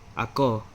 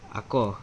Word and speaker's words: ako: First person, which is me, is ako. Okay? Ako. Ako, which means I. Listen to the stress.